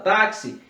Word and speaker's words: táxi: letras por quê porque o x o táxi ele é apenas uma letra mais que nós pronunciamos com dois sons então nós temos no